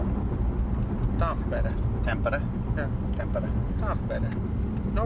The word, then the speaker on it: Tampere: So is this common, or is this up in Tampere? That is very common. Tampere? You know, how do you pronounce it again? Tampere? T-A-M-P-E-R. Pronounce it. Spell it. Tampere.